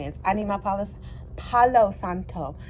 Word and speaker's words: Palo Santo: I need my Palace Palo Santo I'm trying to say it right because I always say palisanto so Palo Santo I'm trying